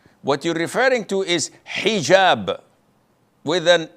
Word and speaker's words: hijab: What you're referring to is hijab with an H. And I know in France they don't pronounce the H when it is in the beginning of the word as in hotel or but this is an Arabic word.